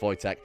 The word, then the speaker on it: Wojtek: what Jack what what okay I know it's pronounced Wojtek so we've got voice at the polar bear we've got the horn the